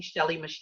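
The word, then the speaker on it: Shelley Mechette: which is my name shelly mache and i'll spell that because it doesn't sound the way it's spelled and it's s-h-e-l-l-e-y m-e-c-h-e-t-t-e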